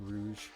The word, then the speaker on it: Rogue: And Rogue. Some people call it Rouge, but I like calling it Rogue because it's easier to not pronounce wrong.